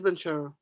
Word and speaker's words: Banchero: Yeah, it is Banchero. Yeah, look at Miguel trying to say that. That's not how you pronounce his name.